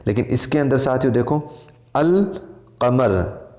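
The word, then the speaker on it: القمر: है अलिफ़ और लाम, लेकिन इसके अंदर साइलेंट नहीं रहता है, इसके अंदर आवाज़ आएगी। जैसे अल क़मर, अल बदर वग़ैरह।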